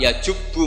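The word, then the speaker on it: يجبّ: Terus Nabi ngendikan al-Islamu yajubu ma qablah. Itu bacanya bukan yajibu tapi apa? Yajubu ayaktau.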